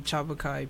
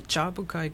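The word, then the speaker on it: Tjapukai: And this was not Cairns, not Cairns, but K-A-I. It's called the Chabukai Cultural Park. It's spelled T-J-A-B-U-K-A-I, I think.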